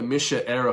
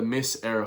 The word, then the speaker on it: Mise Éire: The reason why the Misha era Festival, not the Miss Era Festival, as she mispronounced, she thinks she's going to a beauty contest or a beauty pageant.